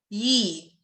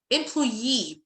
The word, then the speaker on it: employee: employee 3 syllables. employee لأنه ليه قريتها كده؟ لأنه I'm stressing ال double E.